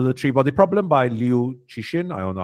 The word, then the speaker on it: Cixin: The novel, The Three-Body Problem, by Liu Cixin, I don't know how to pronounce that, C-I-X-I-N, Cixin.